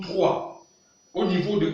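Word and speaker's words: trois: Au niveau de 3, le S, on ne prononce pas le S. Voilà pourquoi il sonne 3.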